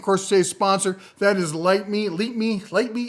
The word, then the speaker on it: Lytmi: That is Leap Me. I can never pronounce it right. They told me how to pronounce it. Leap Me.